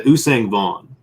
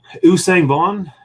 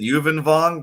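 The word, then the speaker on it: Yuuzhan Vong: I've been mispronouncing it. I think I always pronounce it Yuvan Vaughn, but I don't know how to pronounce it. That's how I've always heard it, was Usang Vaughn. Okay. That sounds a lot better than what I'm saying.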